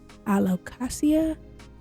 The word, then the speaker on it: Alocasia: red and the green I think it's pronounced alocasia I hope I said that right I ended up getting